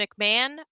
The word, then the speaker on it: McMahon: I still answer if you add the extra syllable there at the end. But yeah, I heard when I acquired this name, if you will, that it's just like Ed and Jim.